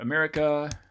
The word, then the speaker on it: America: at the beginning right how about america something like this yeah so that's another schwa at the beginning hopefully you agree arcade